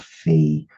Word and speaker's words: fid: groups 's 25 car characters are called fee um so the letters would be called fee that's fi D and this would mean